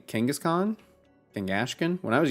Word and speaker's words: Kangaskhan: King ashin H yes I too pronounce it like the molian Conqueror as as we should right Kangaskhan freaking your team is